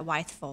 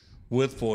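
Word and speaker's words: Wytheville: I had to learn how to say it because I called it Whiteville. Whiteville. But it's Withful.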